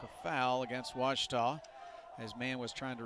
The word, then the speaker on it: Ouachita: at a baptist university back in texas everybody pronounces it wichita but really it's ouachita washington washington how would you pronounce it it's washita baptist university get it right it's washi tall